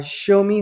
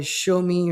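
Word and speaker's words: Xiaomi: And if you look at the other ones there, uh, show me, hopefully I'm pronouncing that name corre correctly. Uh, X I A O M I show me or something around there.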